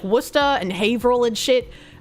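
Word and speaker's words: Worcester: As a World of Warships player, you love to say uh Wora as Warchester.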